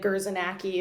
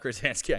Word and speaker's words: Gurzanski: Like, people will say like GURZANAKI or like they'll just say it so butchered that's why I didn't want to be GURZANSKI. Yeah, you said it right the first time, which is great.